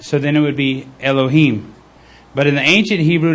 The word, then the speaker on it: Elohim: So pronunciation would be, it would be al, so it would be like Elohim or Elohim, either one. I tend to think it's Elohim, like, Eloah, but with the A in front of it,